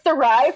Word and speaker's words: Sarai: Can I just tell you that I thought it was Sarah is Strange. Everyone thinks that. So it's Sarai from the Strange the Dreamer duology by Lainey Taylor. Oh. So Sarai and then Strange.